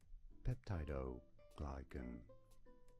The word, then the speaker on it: peptidoglycan: The pronunciation of this name from science is as peptidoglycan.